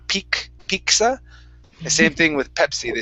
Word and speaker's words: Pepsi: The word pepy. Instead of pepsi, give me a p sound. Pep. Pepsi. Pepsi.